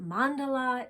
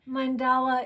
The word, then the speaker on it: mandala: correctly it is weird it feels pretentious but mandala is the correct pronunciation mandala is also an acceptable pronunciation i'm learning and